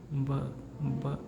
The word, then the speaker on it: Buch: U plus CH combination. Then it gives us the sound as kha, kha, right? Kha. So this word becomes, we have to pronounce this German word as bach, bach, bach.